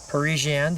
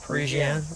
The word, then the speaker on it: Parisienne: There you have Parisian. Did I say it right? Yes. Parisian. Right. I didn't have to emphasize anything. I was all right.